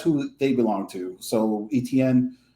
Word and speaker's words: Etienne: Like they had probably likely have more faith in and it's pronounced Etienne.